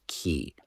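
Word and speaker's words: Cay: Is it Ki or K? I think in America we pronounce it key like Key West.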